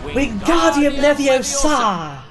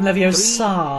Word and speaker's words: Wingardium Leviosa: Wingardium Leviosa! That's how you pronounce it. The magic words for the levitation charm are Wingardium Leviosa. Be sure to make the gar nice and long.